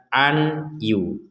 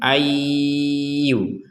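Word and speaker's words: أن يوصل: An Yu An Yu jangan dibaca Anyu kalau dibaca Anyu berarti kita belum belajar tajwid n kita sudah mengetahui nun sukun ini bertemu ya maka kita masukkan cara membacanya plus plus dengungnya ada dengungnya Ayu Ayu Ayu Jadi dimasukkan kemudian didengungkan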